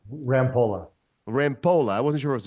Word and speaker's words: Rampolla: Rampola.